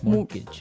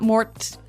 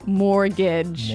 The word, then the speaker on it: mortgage: with a t yeah it has a t in it but you don't pronounce it you say mortgage morgage so not Mort mortgage not mortgage morgage mortgage yeah I had